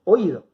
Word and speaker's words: oído: Y me doy cuenta que toda la fuerza cuando hablo la pongo sobre la I, digo oído. Entonces, si es la sílaba tónica, la vocal cerrada, voy a estar frente a un hiato. No los voy a dejar juntos, los voy a separar. Y la forma correcta de separar en sílabas va a ser o, i, do.